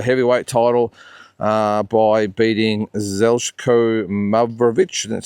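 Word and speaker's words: Zeljko Mavrovic: Uh 1998 uh Lennox Lewis defended the heavyweight title uh by beating Zelko Mravich, that's how you pronounce it, on points, took a place in Connecticut.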